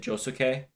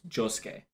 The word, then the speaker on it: Josuke: As I found out, people get upset with me when I pronounce it Josuke because the U is less pronounced, so it's Josuke.